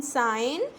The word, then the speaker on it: sign: सो इस पेज के अंदर हमारे पास बहुत सारे वर्ड्स थे, like साइन post, SIGN साइन, इसमें G साइलेंट होता है.